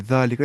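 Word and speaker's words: ذلك: Hada and ज़ालिका are pronounced as हाजा एंड ज़ालिका respectively, ना हादा ज़ालिका, बट are written without the अलिफ।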